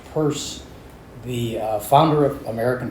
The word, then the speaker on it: Peirce: many folks here know anything at all about purse okay some okay um so so uh spelled Pierce but pronounced purse the uh founder of American pragmatism um he